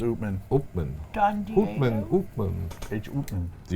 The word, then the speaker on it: Upmann: a chaplain or is Josh says it is pronounced open open open open open do you know the